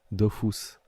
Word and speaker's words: Dofus: Dofus c'est comment dire ça se prononce à la japonaise Dofus donc sûr que ça